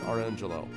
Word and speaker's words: Orangejello: His name was actually Orange Jello, and he pronounced it Orangelo.